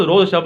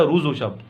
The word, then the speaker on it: روز و شب: کر نہ رہ جا، اصل تلفظ روز و شب نہیں، اصل ہے روز و شب، روز پڑھا جاتا ہے اس کو، ٹھیک، اسی روز و